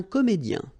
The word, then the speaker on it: comédien: I-E-N, yen. Comédien. E, accent aigu here, gives you the E sound.